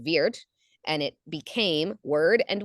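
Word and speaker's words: wyrd: of the word word comes from w y Rd pronounced Weir and it became word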